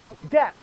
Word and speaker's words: debt: times you go into that short little word with a silent B in it you go into debt well the United States